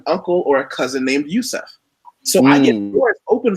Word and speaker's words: Yusef: Yusef, and people ask, well, how do I pronounce it? I said Yusef.